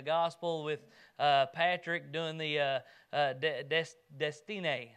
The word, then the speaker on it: Destiné: Justin and I took turns sharing the gospel with Patrick doing the Destiné, is how his name's pronounced, he told me. He says it's like destiny, but Destiné.